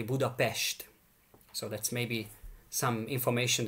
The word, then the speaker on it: Budapest: And if you see just an S in the Hungarian language, just like Budapest, that's called with an S, it is always pronounced as an Esh. So our capital city is actually Budapest.